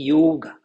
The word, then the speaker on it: yoga: No sânscrito, a pronúncia sempre é yoga, porque o O em sânscrito é fechado. Não tem O aberto e O fechado em sânscrito. É sempre fechado.